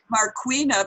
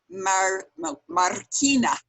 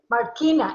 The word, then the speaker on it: Marquina: I've been Marquina, but it's she's named after a Spanish marble, which would be Marquina. Marquina, exacto. Marquina.